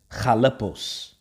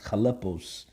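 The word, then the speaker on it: χαλεπός: Now, when you go into that word perilous right here, word there in the Greek, the Greek is pronounced chalepos. Okay, it's pronounced chalepos.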